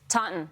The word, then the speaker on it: Taunton: then I'm going to need help with the pronunciation of this name as well. I know it's Scituate, but is it Taunton? Taunton.